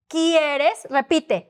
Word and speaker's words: quieres: it is in Spanish don't try to shorten words you say them long you say them clear you pronounce every single letter because every letter has a sound mostly speaking is now you pronounce this